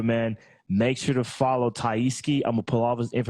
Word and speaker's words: TyeSkie: Did I say it right, TyeSkie? TyeSkie.